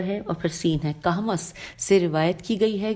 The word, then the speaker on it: کہمس: لکھا ہے نیز ابھی کوہمس, اب ہجے کر دیتے ہیں, الف بے چھوٹی ہے اور کاف ہے میم سین. کہمس, کاف پہ بھی زبر ہے اور ہا پہ جزم ہے اور میم پہ زبر ہے اور پھر سین ہے.